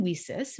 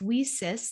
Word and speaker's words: WiCyS: go by our acronym we sis we spell it w-i-c-y-s pronounced we sis like we sisters because that's exactly what